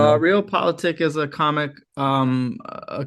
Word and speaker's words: Politik: And he has a new book, Real Politique or Politic. You help me with the pronunciation.